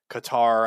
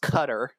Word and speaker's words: Qatar: They could target our bases in like Syria, Iraq, uh, Qatar. I know it's pronounced differently. Oh my god. You know, it's actually it's pronounced Qatar.